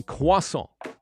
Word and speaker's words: croissant: we say croissant a croissant when we say croissant do you say croissant croissant croissant but in england we don't even say the r we say quasa so we leave out the r correct it should be